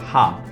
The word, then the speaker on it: H: H is pronounced as Ha, as in ham.